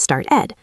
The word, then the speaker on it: started: When a verb ends in a t or a d like start or end, we add an extra syllable. Start becomes started.